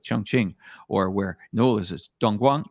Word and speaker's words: Dongguan: And that's the beauty about educating you guys about cities like Chongqing, or where Noel is Dongguan. Dongguan, did I pronounce that correct? Yeah, that's right. That's Dongguan.